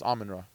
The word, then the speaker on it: Amon-Ra: to it you know I think I said it wrong I said almond Ross Saint Brown it's close almondra almond Rock there you go almond Ross and by